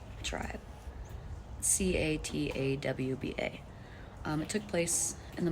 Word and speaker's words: Catawba: I think it's pronounced Catawba tribe. Catawba.